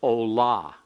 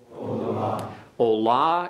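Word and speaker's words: עֹלָה: a full letter holum wow and it is pronounced Ola Ola is a feminine noun you can tell that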